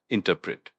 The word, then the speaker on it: interpret: Interpret. That's I N T E R P R E T. And it's pronounced interpret with the emphasis on the second syllable.